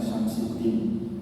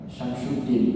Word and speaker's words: Syamsuddin: Ya, orang-orang Turki bilangnya Syamsiddin. Sebenarnya ejaannya Syamsuddin, Bapak, Ibu ya. Syamsuddin matahari agama.